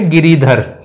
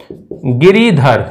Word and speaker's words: गिरिधर: देखिए इसमें बोलते हैं सबसे पहले गिरिधर। क्या बोला जाता है बच्चों? गिरिधर, लेकिन अपन इसका उच्चारण कर देते हैं गिरधर, लेकिन गिरधर नहीं, गिरिधर।